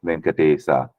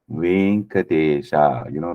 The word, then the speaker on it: Venkatesha: Like if you see Lord Venkatesa, in Tamil we say Venkatesa, but in Sanskrit it's always Venkatesha, because it's a sound, right? So that there is no a here.